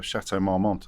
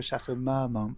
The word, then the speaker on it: Chateau Marmont: book and clocked the Chateau Marmont I think yeah so I pronounced that correctly this shutter oh I say the Chateau Marmont well some people say my monks you clocked that while